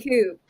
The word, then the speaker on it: Coop: It is pronounced the Coop. Like co-op.